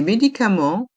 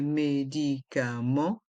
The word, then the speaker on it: médicament: des comprimés des cachés dans le mot médicament il y a le son en avec les lettres e et N et le T et le S sont mués médicament dans le mot comprimer